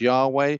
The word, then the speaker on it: Yahweh: That's either pronounced Yahweh or it's pronounced Jehovah. Okay, so and they are repeated in the Bible over 7,000 times.